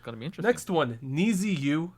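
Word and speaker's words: NiziU: Next one, Niziyu. I think that Nijiyu, is that how we're pronouncing it? I looked it up. Apparently, it's Niju.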